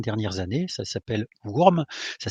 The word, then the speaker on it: Wurm: Ça s'appelle Wurm, ça s'écrit WU-RM, dans lequel on joue lors de